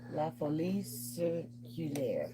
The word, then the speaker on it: la folie circulaire: Here, pronounce it in French. Huh? La folie, La folie circulaire. Yeah. What is it called? What? La folie circulaire.